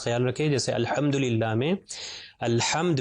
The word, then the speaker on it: الحمد: رکھیں۔ جیسے الحمدللہ میں الحمد میں ہا کے اوپر صرف زبر ہے، اس کو کھینچنا نہیں ہے، صرف ملٹیپلائی بائی 1